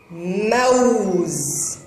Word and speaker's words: موز: موز. موو. هل هذا صوت الضمة القوية؟ لا يا أصدقائي، هنا الواو تنطق بصوتها موووو وليس وو. موز. موز. كلمة موز ليس بها مد بالواو بل الواو تنطق.